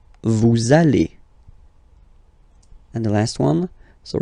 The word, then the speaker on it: vous allez: We'll have this little link between the two. Vous allez. Vous allez.